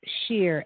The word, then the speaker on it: Schear: and uh i have a website which is dale d a y l e dale shear s-c-h-e-a-r dot com wonderful okay thank you in